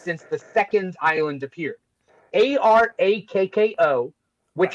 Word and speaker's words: Arakko: Right, Now, I would say I used to call it Araco. right. That makes sense. But then with that pronunciation, you would call the people Iraqi.